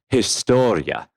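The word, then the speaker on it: Hrastovlje: near a very very small village which is pronounced historia and it's a h-r-a-s-t-o-v-l-j-e and uh it's it's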